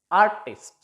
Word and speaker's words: artist: Most of nouns and adjectives which are disyllabic, stress takes place on the first syllable.